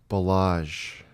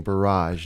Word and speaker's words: Balázs: last name is pronounced balázs and how do you help Americans who struggle with that yeah garage but with a be garage not exactly the R that would be interesting barage noble I love ya